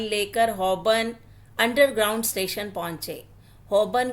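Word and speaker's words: Holborn: हबन underground station पहुंचे हबन को वह हमेशा हलबन ही कहते थे उसके स्पेलिंग ही ऐसे हैं अंग्रेजी के साइलेंट लेटर हमेशा ही उनको परेशान करते हैं हबन से बाहर निकलकर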